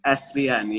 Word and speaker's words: SVN: If anyone has seen JJ's released with her group Seven, is it pronounced Seven? It's pronounced SVM. SVN, yeah.